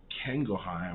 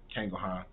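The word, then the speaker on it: Canguilhem: Another book is The Normal and the Pathological by George Kangelheim. I think is how you say his name. Kangelheim.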